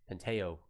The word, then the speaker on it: Pantoja: Penteo. Oh, Penteo.